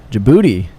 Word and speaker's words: Djibouti: Djibouti.